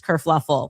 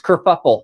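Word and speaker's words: kerfuffle: Causes this whole race kurfluffle. Oh, no. That's it's kurfuffle.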